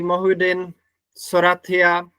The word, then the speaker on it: Mohyuddin Sorathiya: With honored guests today, Moin Soratia, it's correct pronunciation. Yeah. Yeah, that's correct.